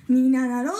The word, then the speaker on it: 3776: みななら数字で 3776 と書いてみななろうと読みます。